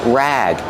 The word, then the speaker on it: rag: Pronunciation rag. Use a short a sound like black cat.